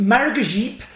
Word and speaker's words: maragogype: Pronounced maragogype, this varietal is found in Brazil and is a mutant from the Typica varietal.